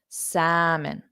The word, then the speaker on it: salmon: does not exist so exactly like Abhishek said it's just not there in spelling but then also the m o n the vowel sound o is an unstressed sound so if I were